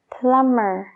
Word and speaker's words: plumber: de cordero lam fontanero plummer plummer fíjate bien la última parte es mer entonces esa B Es como si no existiera plum plumber y crum